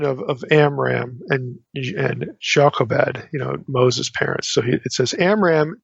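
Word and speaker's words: Jochebed: of Amram and and Jacobed, you know, Moses' parents. So, it says, "Amra took his as his wife, Jacobed, his father's sister or Yaved be the better Hebraic pronunciation.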